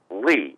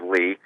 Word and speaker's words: Lea: after the broadcast and he said that it is pronounced lee as an l-e-e it is a term for a meadow and the dam of of lee is greenery so that's